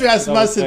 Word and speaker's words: Rasmussen: I would say, I like the way Mitch calls him Rasmussen. That sounds like I'm not sure how to pronounce his name. It is Rasmussen, but I like the way I like when Mitch calls him Rasmussen.